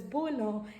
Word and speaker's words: bouillon: This goes by, it is pronounced as gaspasso, and this is pronounced as bouillon, and this is pronounced as consommé.